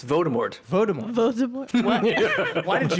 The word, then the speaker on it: Voldemort: The L is silent in Voldemort too. It's Voldemort.